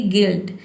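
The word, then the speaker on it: guilt: जैसे कि गिल्ट। गिल्ट में देखिए यहां पे इ पढ़ते हैं। जी का ग हो जाएगा। यू आई का हो जाएगा इ और एल टी का हो जाएगा आधा ल और ट। क्योंकि मैंने आपको बताया है कि किसी भी वर्ड में दो दो कंसोनेंट अगर एक साथ आता है तो पहले कंसोनेंट को हम आधा पढ़ते हैं और दूसरे को पूरा पढ़ते हैं।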